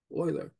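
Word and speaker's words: Euler: e l e r and this is pronounced Oiler so Oiler in 1734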